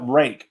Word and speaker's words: Ryuk: Is that they said you call it rake at the Blade Show, but it's spelled like Ryuk or something.